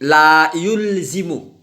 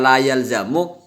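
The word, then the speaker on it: لا يلزم: Adamul wijdani la yulzimu. Begitu dibacanya ya. Kenapa? Karena kalau dibaca la yalzamu biasanya itu ada minhuhnya. Nah, tapi di sini tidak pakai minhu, berarti dibacanya la yulzimu.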